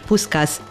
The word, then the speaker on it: Puskás: they hear the name puskás öcsi puskás or how it is pronounced in english puskas was a legendary football